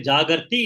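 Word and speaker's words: jāgarti: It is a singular and plural, but it has got to be pronounced properly. Tasyam, you have to say Jagarti in the first case and Jagrati in the second case.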